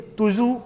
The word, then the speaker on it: Tuju: Next लिख लीजिए तुजू पास, TUJU, तुजू, कहीं कहीं पर जेड भी लिखा होता है, खाली वो प्रोनाउंसिएशन का इशू है।